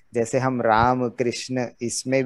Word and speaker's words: राम कृष्ण: तो उसको जब बाद में आजकल हम लोग पढ़ते हैं तो उसको वो रामा कृष्णा की तरह बोलने लगते हैं, जबकि वो राम कृष्ण इस तरह का उच्चारण है।